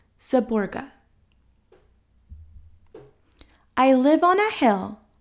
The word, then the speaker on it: Seborga: with cream pronounced gateau saborga pronounced saborga i live on a